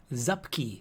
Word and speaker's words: Zupki: Zupkey. like upkeep but with a Z because looking at it